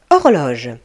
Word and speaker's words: horloge: Horloge. Alors, l'horloge, c'est un objet qui mesure le temps et indique l'heure. On dit horloge. Le H au début du mot est mué, il ne se prononce pas.